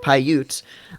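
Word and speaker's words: Paiute: know they said p pyute pyute thank you pyute um between that and the 500 pyute being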